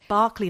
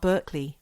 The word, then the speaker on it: Berkeley: Berkeley, not Berkeley.